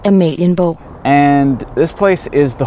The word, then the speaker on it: Amalienborg: I'm gonna read it off in my best approximation of how you're supposed to pronounce it, and then I'm gonna insert the voice of the Google synthetic voice in Danish, saying it correctly. So to me, this place is called Amalienborg. Amalienborg. According to the Google voice, it's pronounced Amalienborg.